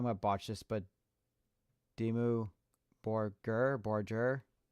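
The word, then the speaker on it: Dimmu Borgir: Oh, that's how you pronounce it. Dimu Borger.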